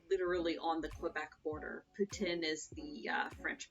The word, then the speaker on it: poutine: live in ottawa literally on the quebec border putin is the french pronunciation so i've just kind of fallen into